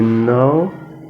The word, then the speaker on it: know: pronounced no no you know you know and this time letter K is silent you know you know